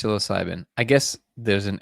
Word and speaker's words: psilocybin: There's a a P. There's a P in there. Psilocybin. That's what it says. Why is it there? You're not using it, man.